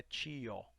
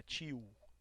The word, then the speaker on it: tio: Os alunos estudantes de português como língua estrangeira, qualquer palavra que termina em O, a gente não pronuncia como O, né? Não é tio, não é tio, U sound, tá? Like W, como W, U.